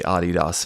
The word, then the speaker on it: Adidas: German army by the Dosler brothers of the Adidas fame. Um, and that's why it's pronounced Adidas.